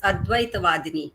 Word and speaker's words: Advaitavadini: great honor my sorry I pronounce my name as ad vadini not is the right pronunciation I know nistic that